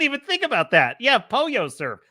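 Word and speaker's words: pollo: Oh, a melodic method is saying polo pronounced Poyo.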